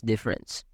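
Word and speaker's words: différance: intricate term of Dera spelled differance but pronounced as difference this time Thea used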